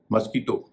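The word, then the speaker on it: mosquito: का उच्चारण ही करेंगे पहला शब्द है मॉस्किटो इसे मॉस्किटो भी कहा जाता है इसका मतलब जानते हो मच्छर इसमें क्य काण क हो रहा है व नहीं होगा इसी तरह से कनक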